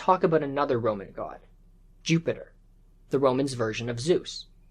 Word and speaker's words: Jupiter: But the thing is, a J in Latin actually has a Y sound, a Y. So Jupiter is more accurately pronounced as Jupiter, and in Old Latin,